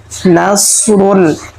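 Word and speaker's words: نصر: হি নাসরুল্লাহি প্রিয় দর্শক নাস এখানে আমরা সদকে মোটা করে পড়ব যদি আমরা এখানে চিকন করে পড়ি তাহলে সতের জায়গায় সিন হয়ে যাবে উচ্চারণ শুদ্ধ হবে না নাস পড়বো না আমরা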